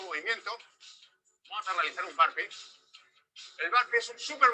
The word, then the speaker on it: burpee: Bueno, ese es un ejercicio que se llama Burpe. Burpee le dicen ellos, pero es burpe, se escribe B larga U-R-P-E.